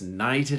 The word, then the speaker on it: knight: He was knighted a king, or he was knighted. Night and night. The K in the second word is silent.